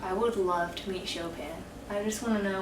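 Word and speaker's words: Chopin: Um, I would love to meet Shopan. I just want to know what was going on with that guy. I think it's pronounced chopping.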